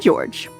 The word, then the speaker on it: George: His name is Ushiromiya Georgi, pronounced Ushiromiya George.